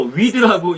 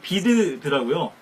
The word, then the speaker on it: Weed: 미국에 가서 보니까는 저는 WEED 그래서 위드라고 읽었더니 보니까 비드더라고요. 아마도 독일 분들이 그곳에 정착해서 이렇게 지명을 지었는지 이제 W를 이렇게 B 발음을 하는 거 보니까요.